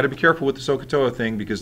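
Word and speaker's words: SOHCAHTOA: how to do the sooa and you got to be careful with the sooa thing because the H is silent in all of them okay or the first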